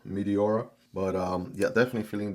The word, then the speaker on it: Meteora: Kind of sounds like like a planet or something like a combination of meteor with aura. Meteora.